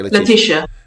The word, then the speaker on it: Letishia: Is that how you pronounce it? Or is it Letishia? That's correct. Okay, Letishia.